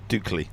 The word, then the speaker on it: Dukley: We're saying Di which is D U K L E Y Di Hotel and Resort on the as Mark said Bay of Budva.